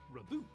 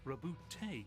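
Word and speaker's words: Roboute: It's not Reboot, it's Rebootay Gilliman.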